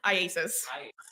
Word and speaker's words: IACIS: How do you say it? IASIS. So ISIS would be immigration, customs enforcement, I think. And so they call it IASIS.